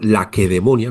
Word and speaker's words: Lacedemonia: De Grecia, del sur de Grecia, que, bueno, pues como ellos lo pronunciaban, Laquedemonia, nosotros hemos transformado las Ks del griego y del latín, las hemos transformado en C suaves, ¿no?